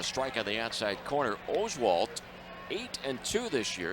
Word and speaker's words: Oswalt: the Astros pitcher correctly it's Roy Oswalt and a couple of starts ago finally the Astro people found out that it's not Oswalt it's Oswalt here's the first pitch